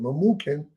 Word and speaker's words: Memucan: And the next unto him was Karshena, Shethar, Admatha, Tarshish, Merez, Marsina, and Memucan, that's how you pronounce it, Memucan, the 7 princes of